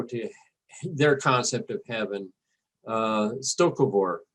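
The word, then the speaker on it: Sto-Vo-Kor: Stokovor, I believe is the way the word is pronounced in Klingon, or the Klingon idea of heaven.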